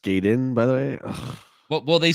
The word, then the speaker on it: Gaiden: one word yeah and it's pronounced Gayden by the way well